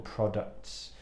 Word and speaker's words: product: And for me, the key really is the second vowel sound, el sonido vocálico al final.